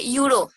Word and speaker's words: euro: suppose you give, okay, euro. Here, the first letter of euro is E. In this sense, we have to use an. But whenever we pronounce, we use the U.